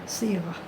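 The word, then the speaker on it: صيغة: Sirah perempuan, bukan sin, bukan dengan sin tapi dengan sa. Sirah, sa ya ghain tak marbuthah, itu sirah. Walaupun dalam ejaan Rumi S semuanya sama ada sin ataupun sa, tapi di sini sirah dalam bahasa Arab, sirah.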